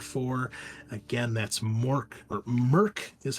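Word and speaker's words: Mörk: you're in store for again that's Mork or Merck is how it's pronounced m-o-r-k with the umlauts Merck bore Borg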